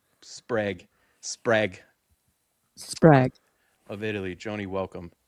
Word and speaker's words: Sprague: Sprague.